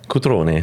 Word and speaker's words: Cutrone: Dis-moi, comment on prononce ton nom de famille comme il faut? Cutrone. Cutrone.